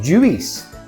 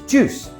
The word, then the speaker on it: juice: It's not juice. We don't say the I. It's juice. It's not business.